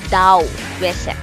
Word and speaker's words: Daoism: Hence, Taoism or Daoism, it is pronounced as Daoism.